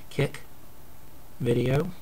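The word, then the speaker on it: CIC Video: That's pronounced Kick Video.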